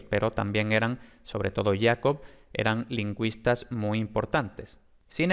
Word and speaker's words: Jacob: Entonces, esto ya lo vio Rask en 1818, pero fue Jacob Grimm, o Jacob, porque era alemán, entonces se debe pronunciar Jacob, en 1822, que formuló